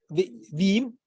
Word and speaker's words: Veeam: VM, how you pronounce it? VW. Veeam.